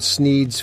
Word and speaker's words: Sneed: The shop is called Sneed's Feed and Seed, where feed and seed both end in the sound eed, thus rhyming with the name of the owner, Sneed.